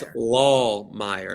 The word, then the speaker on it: Lahmeyer: Pastor Jackson Lahmeyer, did I pronounce it correctly? I hope so. Close. It's a good German last Lahmeyer, name. Right? It's Lahmeyer.